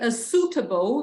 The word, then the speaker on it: suitable: Suitable, não pronuncia o I, tá?